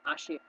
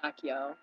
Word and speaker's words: Accio: Accio was Ashio. Uh, yeah. We said Ashio, and it's Accio.